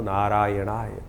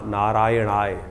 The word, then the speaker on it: नारायणाय: कई बार लोग मंत्र का जप करते करते थोड़ी सी गलती कर देते हैं। नारायणा नारायण नारायण नारायणाय नारायण नाराय नहीं है। नारायणाय ओम नमो नारायणाय इस मंत्र का इसका स्तवन करें।